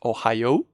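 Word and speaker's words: おはよう: is not pronounced like ohio it's not ohio it's ohio we make it long okay so we have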